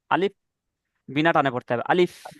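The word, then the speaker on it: ألف: দুই তিন কিছু নেই, মানে কি আলিফ টান হবে না, আলিফ বিনা টানে পড়তে হবে আলিফ।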